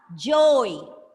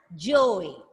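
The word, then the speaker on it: joey: The young one of a kangaroo is J-O-E-Y, joy. It's pronounced as joy.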